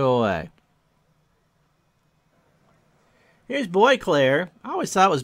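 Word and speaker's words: Boisclair: Bosclair is how I would have pronounced it, but I heard it was either Demos or someone corrected Al. Boyclair.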